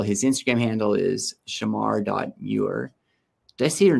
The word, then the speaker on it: Muir: Instagram uh handle his Instagram handle is Shamar mure did I see your name right like the